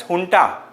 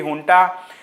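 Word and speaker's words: junta: right the Myanmar military which is known as hun okay it is written as jun j n ta it we pronounce it as hun so so what hun has done it has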